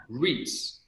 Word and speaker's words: REIT: it okay so investment strategy number one uh reits r-e-i-t it's an acronym that stands for it's